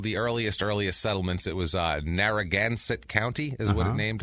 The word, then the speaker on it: Narragansett: Okay. Narragansett. I thought you said Narragain. And I was like, they named it like Narragain.